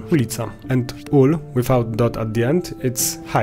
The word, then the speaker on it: ulica: In Poland you will often see the abbreviation ul with dot at the end, but we always pronounce it in full form ulica, and ul without dot at the end it's hive.